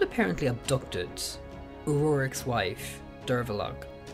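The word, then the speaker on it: Derbforgaill: Abdu Ed uic's wife derog Who We Now Pronounce today as Dera Now history is divided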